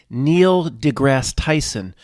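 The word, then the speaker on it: Neil deGrasse Tyson: properly because we need to respect him more Neil degrass Tyson um who else Brian Cox all of these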